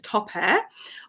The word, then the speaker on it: Top Air: My name is Top Air. I always say my name sounds like top and air. The top that you wear and the air that you breathe air.